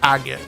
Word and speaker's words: Agate: that to me I know his name is pronounced agot but that name sounds too close to something